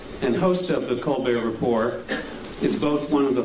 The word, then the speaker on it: Report: a frequent guest on the co be report but uh or Rapport I guess is the proper pronunciation uh we're delighted that